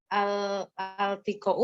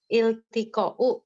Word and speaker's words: التقاء: Sebetulnya ini dibacanya iltiqa'u sakinain gitu Ustaz. Ya, Apa? Harokatnya kasroh di depan ya Ustaz. iltiqa ini dari kata iltaqa yaltaqi. Jadi itu bukan al seperti ad-darsu, bukan.